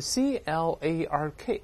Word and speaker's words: Clarke: 这是我们首先看到这个主语是这个科幻小说作家的名字。那这是作者呢写文章时可能马虎了啊，这个名字拼错了，后面 C-L-A-R-K 还有个字母 E 啊，但发音都是 Clark。美国人会读是 Clark 也有可能啊，这个后面字母 E 呢，这个被忘记了。咱们一会儿会介绍这个人的背景。啊、他 One 曾经提出。Suggest